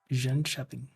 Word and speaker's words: Jönköping: Yeah, they kept Jönköping. Got it fixed. Well, that's good. Say it again. Pronounce the place again. Jönköping. Yeah. So the K sounds more like a j or a sh.